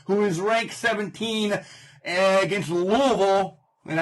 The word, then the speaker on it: Louisville: is ranked 17 against Louisville. And I said it right, it's Louisville, not Louisville. Louisville.